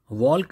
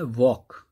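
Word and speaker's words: walk: एल, क्योंकि अगर हमें वॉक लिखना है तो हमें स्पेलिंग में डब्ल्यू ए एल के लिखना तो पड़ेगा, मगर हम एल को साउंड में नहीं बोलेंगे, क्या बोलते हैं इसे, वॉक। ऐसे ही स्ट्रेट, एस टी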